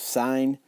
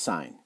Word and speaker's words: sine: three things we have sine cosine and tangent on your calculator you're going to see it look like this but it's still pronounced sine not sin next is cosine we're